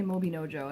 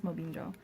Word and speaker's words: Mobinjo: I never say it right. I always want to say Mobinojo, and I think I'm adding letters to it, so I think it's Mobinjo.